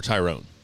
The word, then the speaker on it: Tyron: is from no i'm i'm asking is it tyron or tyrone tyron oh tyron woodley i think i believe is how uh it's pronounced uh from grand city